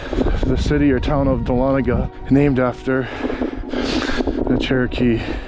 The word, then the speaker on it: Dahlonega: and I butchered the name of the town Dahlonega is I believe the correct pronunciation and the gentleman was telling me some